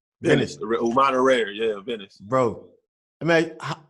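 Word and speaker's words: Umana Reyer: The team you play for, and how do you pronounce that team name? Venice. Umana Rare, yeah, Venice.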